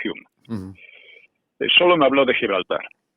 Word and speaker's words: Home: Se escribe Home, pero se pronuncia Hume.